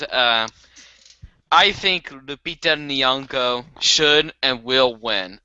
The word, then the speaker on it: Lupita: to mess it up Lupia nongo no you said Lupita Lupita what who speaks